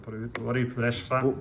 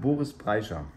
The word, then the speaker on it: Boris Brejcha: Well, we pronounce it different, but Boris Brejcha. Boris Brejcha. Oh, say it again. Boris Brejcha.